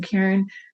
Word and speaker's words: Caren: I'm Caren with the C. And now I'm Caren with the C. So just remember Care, Ware, it rhymes.